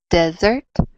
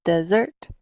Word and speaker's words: dessert: So, for example, desert, right? That's on the last syllable, desert, versus desert, desert.